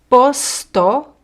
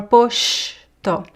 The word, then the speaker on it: posto: syllables like um posto could be posto or poshto, okay? So we have this two very common pronunciations. Posto or poshto. The second one sh is very common in Rio de Janeiro, but also common in other areas in Brazil.